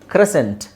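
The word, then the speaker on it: crescent: ಅಲ್ಲಿ ಅದನ್ನ ಮಾತ್ರ ನೋಡಿದ್ರೆ ಸಾಕು ಓಕೆ ಇಲ್ಲಿ ನೋಡಿ ಕ್ರೆಸೆಂಟ್ ಡಿಸೆಂಟ್ ಡಿಸೈಪಲ್ ಇಲ್ಲೆಲ್ಲ ನೀವು ಸೈಲೆಂಟ್ ಸೈಲೆಂಟ್ ಮಾಡಿದ್ರೆ ಆಯ್ತು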